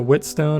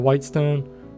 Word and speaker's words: whetstone: But he said, a mind needs books like a blade needs a whetstone or a whitestone. Whetstone, yeah, whetstone. I always pronounce that wrong.